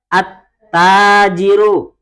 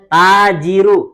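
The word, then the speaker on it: التاجر: Seperti contoh, ta membacanya apa? Al-tajiru, salah. Ya, bukan al-tajiru tapi at-tajiru.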